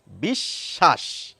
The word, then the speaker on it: বিশ্বাস: দেন তখন কি বলি বিশ্বাস অর্থাৎ ব ফলা এই তালব্য স এর সঙ্গে যুক্ত রয়েছে বলে তালব্য স কে কিন্তু আমরা দুবার উচ্চারণ করছি মজার ব্যাপার হচ্ছে এইখানে